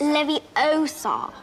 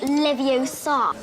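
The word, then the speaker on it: Leviosa: someone's eye out besides you're saying it wrong it's Levi Oar not Levi Oar and then celebrating Christmas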